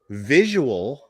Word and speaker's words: visual: Now, visual is different. Visual is 3 syllables.